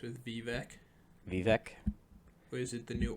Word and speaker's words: Vivek: Vivek? Or is it the new orange? Because it's a last syllable, Vec. Anything rhyme with Vec.